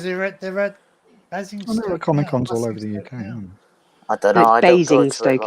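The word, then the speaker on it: Basingstoke: they comic UK I bing St is how it's said Bing big biggest one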